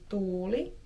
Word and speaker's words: tuuli: So for example, the double vowels can be difficult in Finnish, so if you want someone to show you how to pronounce the difference between tuuli, which means wind, versus tuli, which means fire, or the past tense